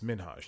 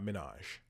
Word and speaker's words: Minhaj: to to talk about his last name and how it's minhaj not Minaj that's how people have